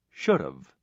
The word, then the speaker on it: should've: The word have loses its h sound and is linked to the modal before it, should've.